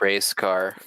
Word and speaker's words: R3CR38V: Well, thank you, especially Anna-chan, for watching, and whoever is It's R3CR38V. pronounced race car.